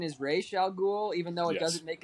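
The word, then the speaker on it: Ra's al Ghul: um with um yeah actually technically the correct pronunciation is ray shall ghoul even though it doesn't make anything they don't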